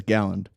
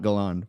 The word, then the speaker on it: Galland: So first thing, my last name is Galland, not Galland, but I just mispronounced that.